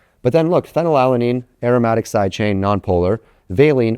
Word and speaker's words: phenylalanine: Phenylalanine is F because phonetically it starts with F, phenylalanine.